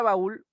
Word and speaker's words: baúl: La palabra baúl se divide en dos sílabas, baúl, y en ul está recayendo la mayor intensidad.